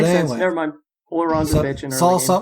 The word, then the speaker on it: Ullr: So, the normal pronunciation is Ullr. The R is quick at the end, and there's a heavy accent on the U.